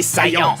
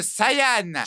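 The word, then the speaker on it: Saiyan: chose que tu perdras prince des saillants ça se prononce Saian je m'en fous je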